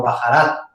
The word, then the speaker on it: baharat: 7 especias en árabe se le conoce como baharat. Se escribe B-A-H-A-R-A-T, baharat, o en árabe se dice baharat, que significa literalmente en árabe especias o mezcla de especias.